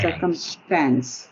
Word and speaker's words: circumstance: good um circumstance circumstance circumstance okay yeah but but the the accent is on cir on the first syllable circumstance circumstance okay there